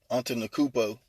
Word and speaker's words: Antetokounmpo: Antetokounmpo. Who? Antetokounmpo. Antetokounmpo.